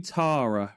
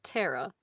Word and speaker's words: Tara: I call you Tara, right? Mm-hmm. How do you pronounce your name? Because us British folks say it completely different. I said you're allowed to because you're Walt, but it's Tara. Tara.